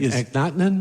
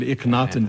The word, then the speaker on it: Akhenaten: Akhenaten, the pharaoh who is it Akhenaten? Well, I'm pronouncing it Akhenaten, but I'm not going to claim to be an expert on ancient Egyptian pronunciation.